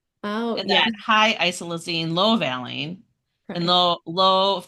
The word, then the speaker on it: isoleucine: Like low, you say isoleucine?